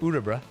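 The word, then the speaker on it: Örebro: I learned it's pronounced urbra, which is more helpful.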